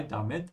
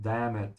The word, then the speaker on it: damit: And damit, the pronunciation is here. You have to emphasize the I, damit, and not damn it. Yeah, in English, you make the A longer. In German, you have to make the I longer.